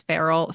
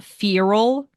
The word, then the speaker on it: feral: that the audiobook narrator chose to pronounce feral FAL yeah FAL nobody makes mistakes everybody